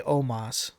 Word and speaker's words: Omos: I can possibly do is it omos or Omas it's almost they say Omas I think that's how it's said it's almost in WWE